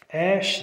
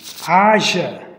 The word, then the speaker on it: Aja: and a sister named Ash Dixon. One sec. Yeah, I mispronounced that sister's name. Is Aja Dixon.